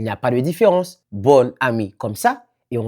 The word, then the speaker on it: bon: expliquer là l'illusion question nous écrit bon et puis nous prononcer bonne le faux féminin ou